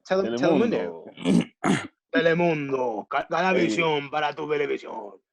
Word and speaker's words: Telemundo: Why'd you say Telemundo like that? Telemundo. Bro, you're Mexican. Just say it right. Just say it right. Telemundo.